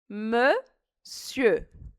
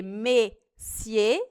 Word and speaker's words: monsieur: Então, a gente vai dizer monsieur. Monsieur. Ao invés de ser messier, é monsieur. É só arredondar o lábio. Bonjour, monsieur. Bonjour, madame. Esse R aqui final do monsieur, a gente não pronuncia.